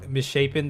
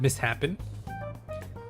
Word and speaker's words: misshapen: You've been mispronouncing misshapen this whole time. You've always said mishappen.